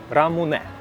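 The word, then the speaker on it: ラムネ: Ламуне, лимонад. Я не знаю, как правильно его назвать. Рамуне. Японцы произносят рамуне.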